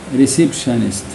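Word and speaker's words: receptionist: وبرضو هنا التي اي او ان دي بتنطق شاء ريسبشنست.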